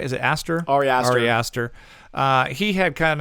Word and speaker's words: Ari Aster: Ari Aster.